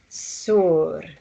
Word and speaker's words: sor: slightly different pronunciations um like sur s o r r for red sor it's not sor it has more of the the u sound in the beginning when you're learning language